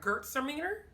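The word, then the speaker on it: Gewürztraminer: say oh she says she pronounces it like girls are meaner and i guess it's like gert sermener i hope i got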